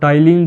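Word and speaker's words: ptyalin: और टाइलिन जो है, पी साइलेंट होता है इसमें, टाइलिन जो है वो क्या करेगा, कार्बोहाइड्रेट, कार्बोहाइड्रेट का पाचन शुरू करेगा।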